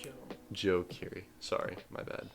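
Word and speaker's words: Joji: Joe Ki Joe Kiri it's not Joey it's Joe Joe Ki sorry my bad like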